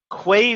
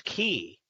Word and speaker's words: Quay: terrific so first question the the obvious one way versus key what I what caused you to choose a